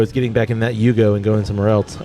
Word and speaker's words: Yugo: A Hugo? A Yugo. Yugo. Yeah. I don't know how to spell it.